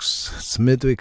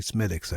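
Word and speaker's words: Smithwick's: the coost tours um they'd call it smick Smithwick Smithwick and I'd be there no it's actually smiix everybody smiix all right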